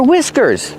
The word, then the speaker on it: whiskers: The H is silent and we use the short I sound like this.